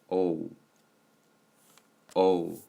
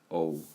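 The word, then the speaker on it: ㅗ: the noon time and the pronunciation for this is o o so like oh and so this is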